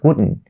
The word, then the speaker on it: wouldn't: So the main focus now we have is upon the T sound at the end of the word wouldn't. So you only have to stop the T sound right there.